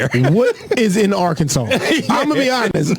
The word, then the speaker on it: Arkansas: First of all, if you if you read it phonetically, it's our Kansas. So, I don't even like the way y'all pronounce the word. So, y'all can keep Arkansas.